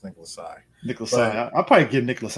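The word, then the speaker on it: Nicholas Tse: i don't know yeah that's actually how his name is pronounced as nicolas sai nicholas i'll probably get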